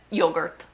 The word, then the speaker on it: yogurt: is said come yogurt it's said like English but with an Italian accent yogurt.